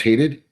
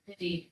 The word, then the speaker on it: Hadid: And it's it's pronounced hated Hadid. Hadid I'm sorry.